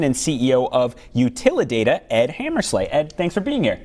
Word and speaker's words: Hammersla: CEO of Utilidata, Ed Hammersla. Ed, thanks for being here. Thank you. And when I asked how to pronounce his name, he said Slay, like Rudolph and Santa and everything.